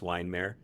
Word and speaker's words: Weihenmayer: So, I'm Eric and I'm Eric with an unpronounceable last name that used to be Weihenmayer, but now it's just Weinmer. Um it's been Wonder Breaded, breaded, I think.